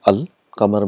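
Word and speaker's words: القمر: So here the sound of lam is pronounced. For example, we have qamar, and we got this definite article al. Qamar means moon. So when you get al plus qamar, it becomes al qamar. So all the letters are pronounced clearly, al qamar.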